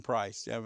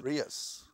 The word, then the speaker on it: Preuss: And the way it's spelled, Preuss, you know, so it's a German name, but Dr. Price, very, very articulate, very, very intelligent man. I thought it was Prius. I thought it was Price or I don't know.